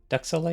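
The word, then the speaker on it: duxelles: Duxelle.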